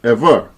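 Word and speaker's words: עברי: In the original tongue used to write the Bible, the word the letters represent is pronounced ever.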